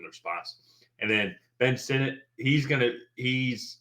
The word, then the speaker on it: Sinnott: Mike Sanders-Trill and then Ben Sinnott or Ben Sinnott. I Senate. forgot. Senate, perfect. It is not pronounced that way.